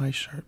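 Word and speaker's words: ワイシャツ: It's called a Y shirt because of the English pronunciation of white. Kind of sounds like Y.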